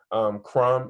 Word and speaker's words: crumb: Crumb isn't spelled like that. You need a silent B on the end.